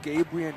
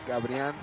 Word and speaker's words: Gabrien: It's Gabrien, not Gabrian. Of course said his mom does not like it when we mispronounce his name.